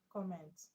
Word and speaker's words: comment: Comment. Comment is a noun. The name of a thing. Comment. And the stress is on COM.